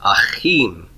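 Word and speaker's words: אַחִים: I'm going to pronounce this like it's got a Dagesh forte, even though it doesn't have one written there.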